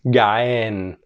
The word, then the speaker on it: جعان: جعان. Okay, جعان. Don't forget to pronounce the عين right.